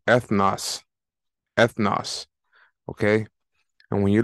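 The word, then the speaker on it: ἔθνος: So it's pronounced ethnos.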